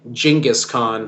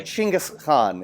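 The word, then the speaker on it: Genghis Khan: as some people say jingus Khan which is hilarious to me chingus Khan is actually how it is pronounced in the Mon oh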